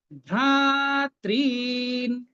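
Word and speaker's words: ভ্রাতৄন্: এই যে ভ্রা পরে ত্রি, এই ত্রিটা যে আছে, এই ত্রিটাও দীর্ঘ রি। আপনারা এই দুটো রিকে একটু দীর্ঘ বানিয়ে নেবেন। ভ্রাতৃন, এই আমি দীর্ঘ উচ্চারণ করছি, ত্রিন, নটা অর্ধেক।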